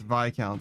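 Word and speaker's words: viscount: It's Vic Count. The S is silent, but you know, I don't speak French.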